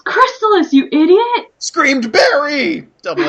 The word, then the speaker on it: Crystalis: make it happen you can do it it's pronounced Crystalis you idiot screamed Barry double exclamation point Sorry